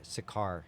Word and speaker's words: Sakar: Sakar. That's how you say it.